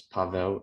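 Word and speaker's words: Paweł: you can uh it's is fine but the uh the proper pronunciation is Pavo it's actually polish um but my friends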